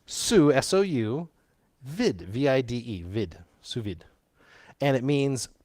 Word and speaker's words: sous vide: right and it's s-o-u-s with a silent s on the end not the first one or that'd be ohs it's sue sou vid v-i-d-e vid and it